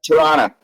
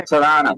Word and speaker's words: Toronto: in excuse me in Toronto you don't pronounce the first o I believe right Toronto toron okay thank you Toronto but is it is